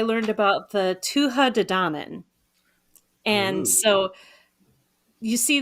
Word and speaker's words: Danann: How is it pronounced? Tuatha De Danann.